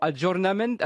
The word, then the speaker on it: aggiornamento: non mais vous l'avez le mans mais vous prononcez mal ou alors vous le connaissez santé allez-y à jo ajournement aggiornamento john holmes était le nom n'est pas la